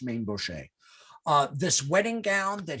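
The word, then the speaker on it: Mainbocher: the designer maine boucher he's also sometimes pronounced main bucker but but he's normally pronounced maine buche uh this wedding gown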